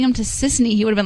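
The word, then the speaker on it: Sisany: Is it Tiffany? No, it's Sissany.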